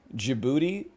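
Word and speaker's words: Djibouti: lost now we know now we'll always remember jibuti is um it kind of looks like a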